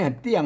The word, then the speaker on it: เตี้ยง: เ่า เตี้ยง นะ ครับ เนี่ย เตี้ยง ไม่ ใช่ เที่ยง นะ อ่า เ ๆ ตัว ต้า นะ ครับ อ โทษ ท ตัว ต้า ไม่ เยาะ ออก เสียง โท ปกติ นะ ครับ เตี้ยง นะ